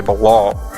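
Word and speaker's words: Baal: longer call me and uh it's actually balal or Bal how do you say it Bal thank you okay yeah so it's Bal and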